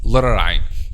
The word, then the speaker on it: ع: Ain, but they said they are saying letter Hamza instead. Okay, like the ayah we said وَتَعْلَمَ الْكَاذِبِينَ, they say وَتَعْلَمَ الْكَاذِبِينَ, but instead of وَتَعْلَمَ they say وَتَعْلَمَ, and this is wrong because this is letter Hamza, not letter Ain. Or say it between letter Ain and letter Hamza, not a clear letter Ain.